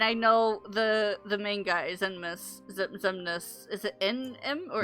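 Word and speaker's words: Xemnas: I know him, and I know the main guy, Zemnis. Is it N-M or Zemnis? Zemnis.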